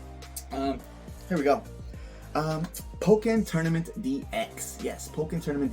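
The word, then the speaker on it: Pokkén: Um Pokeen Tournament DX. Yes, Pokeen Tournament DX. Woo! This is a amazing fighting Pokemon game that was made by, you know, the same people that make Tekken, hence Pokeen.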